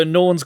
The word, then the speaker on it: Unown: Unknown, that's good. I'm just going through there. Unknown is spelled. That's how you spell it. Unknown. UNOWN. Sorry, say again. UNOWN, like you known.